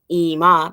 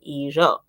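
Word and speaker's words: 以上: They weren't saying ima, they were saying ijo.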